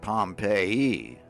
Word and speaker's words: Pompeii: They pronounce it Pompeii.